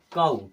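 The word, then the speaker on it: COW: काऊ, सी ओ डब्ल्यू, इसे पढ़ते हैं काऊ।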